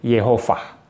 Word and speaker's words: Yehovah: Kemudian dilafalkan sebagai Yehovah. Ada yang bilang Yahweh ya. Tetapi seorang ahli biblika Kristen yang bernama Gerhardus Voss, lafal yang lebih tepat sesuai dengan pengucapan asli orang Israel zaman itu adalah Yehovah, ya.